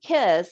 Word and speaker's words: Kysse: And then the last one would be Kiss. And obviously it's KYSSE is how they spell it.